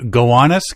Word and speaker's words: Gowanus: And we're just going to pronounce it properly. We think. The Gowanus Canal.